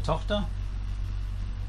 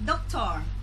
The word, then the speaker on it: Tochter: Eine Tochter. A daughter. A daughter? Say in German. Eine Tochter. Tochter. Eine Tote. Keine Tote, not a die. In German it's a die. No. Tochter. Tochter. Doctor. Not doctor. Tochter.